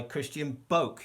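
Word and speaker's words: Christian Bök: This rather marvellous poetry collection is by Christian Boke. That's how you say his name, even though it's because it's got those little, you see what I'm saying?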